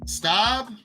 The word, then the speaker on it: Staub: His last name, Staub? Clay, it's not Clay Enos, it's Clay Stubb.